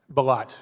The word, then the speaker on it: Bilott: Our second witness, Robert Bilott, did I pronounce that correctly? Bilott, excuse me.